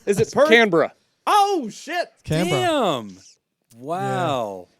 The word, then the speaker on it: Canberra: Because many Americans say Canberra, and you're saying Canberra perfectly.